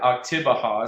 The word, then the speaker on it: Oktibbeha: Oktibbeha is how you say it, County Co-op, and you can find that on Facebook.